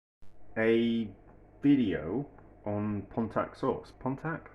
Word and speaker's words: Pontack: video on contact source pontac that how you say it's p-o-n-t-a CK Source it's basically an